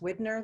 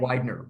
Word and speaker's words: Widener: putting in the name i think it's pronounced widner library is that right widener wide widener library yeah so thank you for